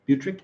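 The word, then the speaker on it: butyric: Am I saying that right? Butric? Yep. Butric acid. Yes, that is correct, Ryan.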